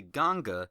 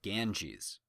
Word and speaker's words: Ganga: the Ganga river which in keeping with trying to pronounce things correctly will say Ganga instead of Ganges to the west and